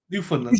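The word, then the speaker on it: Newfoundland: me New Finland yeah don't look at the word New Finland New Finland is New Finland now you never you'll never mispronounce it you won't mispronounce it again New Finland uh Lizzy's in the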